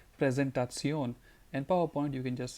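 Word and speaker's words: Präsentation: do you say presentation you just have to say it like a German you'll have to say it like presentaton and PowerPoint you can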